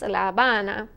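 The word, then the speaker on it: La Habana: Pama KU Cuba laana we call it Havana right in Spanish it's laana Santo Domingo Santo Domingo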